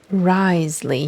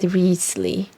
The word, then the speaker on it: Wriothesley: Risley, he says. I literally watched a YouTube video about how to pronounce his name, and It said Riesli.